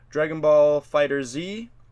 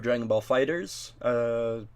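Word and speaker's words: Dragon Ball FighterZ: BlazBlue Cross Tag Battle, Dragon Ball Fighter Z, or Dragon Ball Fighters, everybody pronounces it differently, Soul Calibur 6, and Street Fighter V Arcade Edition.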